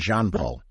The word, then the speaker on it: Jean-Paul: It's actually Jean-Paul. Yeah. And I revert back to what I did for years before I knew, because I was younger on those days. So I didn't know Jean would be the pronunciation. Yeah, exactly. As in Jean-Claude Van Damme.